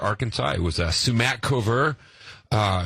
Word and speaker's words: Smackover: little town uh called Smackover Arkansas it was a sumac cover uh it was a French name and uh no one could pronounce it so they just ran it all together and and the battling